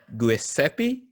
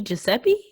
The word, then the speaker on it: Giuseppe: go sorry in advance guiseppe tartini maybe giuseppe giuseppe that's probably it listen it's spelled g-u-i-s-e-p-p-e